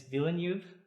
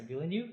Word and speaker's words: Villeneuve: it is directed by Dennis Villeneuve and is that correct a villain you or Villeneuve how would you pronounce his last name vilnov maybe enough then is V and it starts